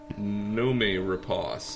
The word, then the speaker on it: Noomi Rapace: you say her name numi repos is the way way I've heard it she uh for those